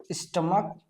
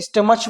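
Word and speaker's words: stomach: गलती करते हैं इसको स्टमच पढ़ते हैं। इसको मोनार्च पढ़ते हैं। तो बच्चों ये गलत होता है। लास्ट में सीएच का यहां पर जो उच्चारण है वो का के रूप में होता है।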